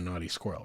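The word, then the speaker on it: Knotty Squirrel: to stay with a naughty squirrel right of course it's spelled k n o TTY y but it's the naughty squirrel I wish we could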